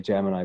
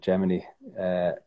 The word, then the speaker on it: Gemini: He went up again then in the, I would say Gemini, but I think they pronounce it Gemini program, and they were the first.